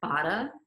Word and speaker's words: Baade: It's Baade, but you know, I also didn't fix the pronunciation of that, so it's good. But it's like Baade, like bada bing.